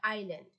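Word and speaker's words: island: আইল্যান্ড, আইল্যান্ড অর্থ দ্বীপ, বানানটা হচ্ছে আইসল্যান্ড কিন্তু উচ্চারণ হবে আইল্যান্ড।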